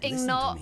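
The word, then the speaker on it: ingot: Oh, it is Ignot. It is Ignot. I say it wrong. Are you serious? I've always said it the wrong way.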